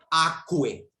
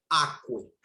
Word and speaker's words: aquae: Su genitivo, damas y caballeros, es aquae. Vean la terminación. Una termina con A y la otra termina con AE. Repito, diptongo AE se traduce, perdón, se pronuncia como E. Aqua, aquae.